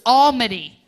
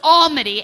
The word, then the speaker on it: Almighty: friend of mine Bruce Alma D it's spelled it's spelled Almighty but it's pronounced Alma D and this good good